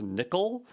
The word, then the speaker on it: NCCL: Let's take a look here at Nvidia Collective Communication Library, NCCL, also pronounced nickel.